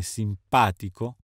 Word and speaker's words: simpatico: rilassano dormivano andavano correvano gli aggettivi che finiscono in tico tico come simpatico antipatico fantastico fanatico telefonico accademico logico vengono anche accentati sulla terzultima sillaba inoltre vale la pena